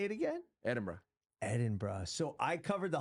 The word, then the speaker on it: Edinburgh: Perth back to Sydney Manchester what's the proper pronunciation of Edenberg I call it Edenberg and I got called out so hard what's